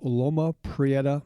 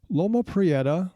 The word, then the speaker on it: Loma Prieta: Mountains from a location known as Loma Prieta Mountain the Santa Cruz Mountains is south of